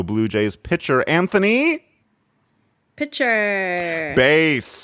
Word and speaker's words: Bass: A lot of people pronounce it bass like the fish, but it's spelled the same as bass like the instrument, and considering his line of work, just makes a lot more sense.